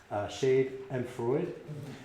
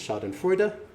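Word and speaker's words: Schadenfreude: this uh I always thought it was uh pronounced shade and Freud um but that's not correct it's shod and frea um but you know what what a great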